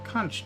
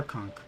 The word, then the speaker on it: conch: There's a conch nearby. Or conch. You can pronounce it both ways, apparently.